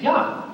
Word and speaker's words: Yah: And we know what that syllable is because all over Scripture, 68 times, the name is Yah. It starts with Yah. It doesn't start with Yeh.